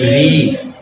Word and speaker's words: ঋ: একটু টান পড়বে দীর্ঘ মানে টান পড়া একটু লম্বা করে টান পড়বে দীর্ঘ ও দীর্ঘ ও তাইলে এই এই বর্ণটাকে অনেকে কিন্তু ভুল করে কি বলে লি বলে ফেলে হ্যাঁ ল উচ্চারণ করে ফেলে এটা হবে কি ঋ ঋ ঋ বলতে হবে তারপর এ তারপর দেখো